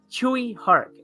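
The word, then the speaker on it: Tsui Hark: I may get it wrong, but I believe it's Chewy Hark. I believe that's how he pronounces it.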